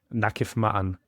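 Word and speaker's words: نقف معًا: Nakif Ma'an.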